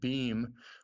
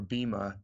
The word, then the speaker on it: Bhima: He's identified with the same constellation in the adventures that Bheem or Bhima, it's spelled Bhima, but they usually drop the A off nowadays.